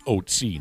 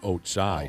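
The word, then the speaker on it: Ötzi: He says the mummy is, the pronunciation of its name is Otsi, not Otsai.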